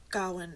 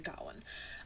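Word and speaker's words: Gawain: I think it's actually Gowen. Um, but I've always said gane because that's how it's spelled, but I'm pretty sure it's got one.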